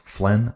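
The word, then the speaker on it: Flaine: Uh Flynn, pronounced Flynn like Ben.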